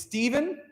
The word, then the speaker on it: Stephen: your your part first it's Stephen just like good old Stephen and John so mark that John